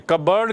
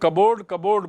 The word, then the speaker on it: cupboard: लेकिन अब अपने ड्रॉर में, कबर्ड की स्पेलिंग देखिए, हम लोग कबोर्ड बोलते हैं. Actually it इज़ कप बोर्ड, जिसको शॉर्ट में कबर्ड बोलते हैं. कप बोर्ड, सी the spelling, CUPBOARD. तो फादर ने कहा, अब